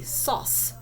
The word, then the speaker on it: sauce: So we know it's that CE soft C sound, sauce.